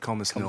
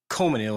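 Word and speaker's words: Colmesneil: the proper way is Comanil, and I think that's Comanil. not even proper. I don't think you're supposed to say the first L.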